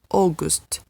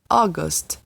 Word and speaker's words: August: então esse a you aí tem um som de um pouco mais fechado é quase como se fosse a letra o tá bom então é só gosto a água se não é august august a boca ai é